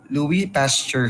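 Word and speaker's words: Pasteur: Pastor Louie pasture silent S no Louie pasture Louis pasture no if you're familiar with pasturization Louis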